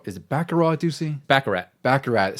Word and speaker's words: Baccarat: See, I always thought, I always get confused if you had to pronounce the T or something like that. Some words mess Probably in Europe you don't, but here, that's right. Here we do.